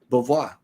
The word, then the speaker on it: Beauvoir: Beauvoir.